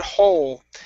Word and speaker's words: whole: Okay, the word whole. The whole track. So we do need to pronounce that H there.